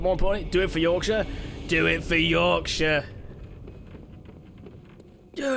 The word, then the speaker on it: Yorkshire: Um, speaking of Yorkshire, I heard someone call what I call pronounce it as Yorkshire, like the Shire from Lord of the Rings.